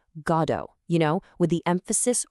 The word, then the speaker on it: Godot: But Samuel Beckett, who wrote the play in French first, he pronounced it Godot, stressing the end.